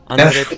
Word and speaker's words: André: André. Don't do it. Don't do it. You're not supposed to roll your R on this one. Damn it. Only in the double R's in Spanish.